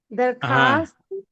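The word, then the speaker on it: درخواست: Next में हमखा देखिए वाओ वाओ जो है दरखास्त लिखते हैं लेकिन दरखास्त पढ़ते हैं यानी कि आपका वाओ यहां साइलेंट रहता है हम दरखास्त हम दरखात कैसे लिखें?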